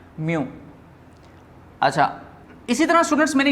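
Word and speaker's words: μ: Students ये sign जो है इसको हम वर्ड में प्रोनाउंस करते हैं म्यू।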